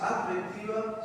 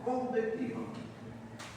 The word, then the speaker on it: convectiva: No se dice adctiva, sino convectiva.